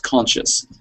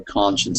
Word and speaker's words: conscience: And I was hearing that word as conscious. So we need to hear that n sound at the end for conscience, so it's absolutely clear.